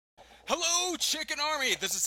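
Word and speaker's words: CHKN: And for those of you that are also wondering, it is pronounced Chicken, C-H-K-N.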